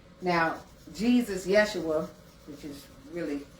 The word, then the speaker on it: Yeshua: Now, Jesus Yeshua, which is really how you pronounce the name, said it best.